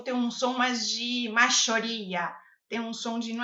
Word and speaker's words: mayoría: O Y nesse caso não tem som de I, como oi, ódio. Oi, né? Então, maioria. Você vai pronunciar dessa forma. Maioria, tá? Vai treinando com o som de J mesmo e depois você vai suavizando um pouquinho.